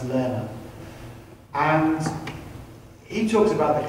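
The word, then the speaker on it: Lehrer: There's a great book called Imagine How Creativity Works by John, I think his surname is pronounced Lerner.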